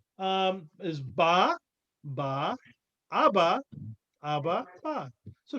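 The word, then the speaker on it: אבא: Remember, the aleph is silent. Abba.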